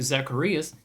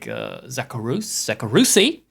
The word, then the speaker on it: Zacharias: Nobody fucking knew how to pronounce it. I show up in this streamer's chat and that streamer's chat. I did my marketing research. People had no fucking clue how to pronounce it. Like maybe 1 in 4 said it properly, and the rest is like Zacharusi.